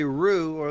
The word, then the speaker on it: Ruhe: Well, we just say Ruhe, although the German pronunciation is Ruhe, but we just say Ruhe in English.